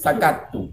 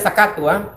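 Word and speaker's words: سَكَتُّ: Falamma ra'aituhum yusammitunani sakattu. Bacanya sakattu, tasdita. Sakattu. Sakat. Itu ada dua tak sebenarnya itu. Tak sakata dan tak mutakalim. Cuma kalau bersambung dhamir rafa itu kan dibaca sukun, jadi sakat.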